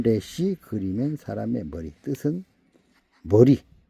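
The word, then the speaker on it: Resh: 레쉬.이 이 기억자처럼 생겼는데 레쉬라고 읽습니다. 레쉬 뜻은 머리입니다. 머리. 사람의 머리. 사람의 머리. 발음은 레시.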